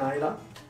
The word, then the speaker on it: Islay: Islay. Islay the Islay. No, it's Islay. Or They should pronounce that right.